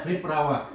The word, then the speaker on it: приправа: Приправда. I always forget that word. Приправа.